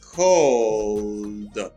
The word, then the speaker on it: called: The base form is call, and its preterite first is called. Now you get ed. Called, you pronounce it as d.